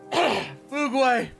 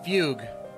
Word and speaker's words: Fugue: of course my wife Fugu or sorry Fugue um because I guess that's her actual pronunciation and people have okay